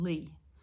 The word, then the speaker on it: Leigh: So it's the word creative and Lee. And Lee is spelled Leigh.